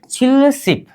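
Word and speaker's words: 칠십: छिलसिप क्या बोलेंगे छिलसिप इसका उच्चारण क्या होनी चाहिए छिल शिप उच्चारण कीजिए छिलसिप क्या छिलसिप मतलब कितना हो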